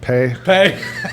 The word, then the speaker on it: Peay: you tell people, well, it's actually pronounced pay? Yeah, so you don't have the let's go pee little slogan.